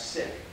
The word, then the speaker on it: Sikh: you recognize that well the sith religion actually should pronounce sin which means disciple were followed was founded